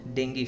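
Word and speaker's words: dengue: Blank the causes of डेंगी fever. देखो डेंगू लिखा जाता है बट इंग्लिश में जब आप इसको प्रोनाउंसिएट करोगे वहाँ पे डेंगी बोला जाता है।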